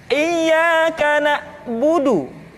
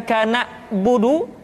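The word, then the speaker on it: إِيَّاكَ نَعْبُدُ: Kemudian perhatikan ketika huruf Ain disukun, maka suara kita tidak boleh mati. Contoh, iyyaka na'budu, bukan kana budu, tetapi agak ditekan sedikit, kana budu, iyyaka na'budu.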